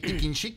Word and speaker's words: Tikin-xic: chik el el el el tikin chic se escribe con x y C al final no Ah porque chic